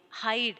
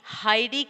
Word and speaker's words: hide: Like, ride, bike, pile, hide. Here, we can't read ridey, bikey, piley, hidey. Can we read in this way? No, because here the letter E is silent.